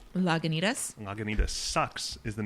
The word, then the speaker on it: Lagunitas: You pronounce it much sexier than I. Lagunitas?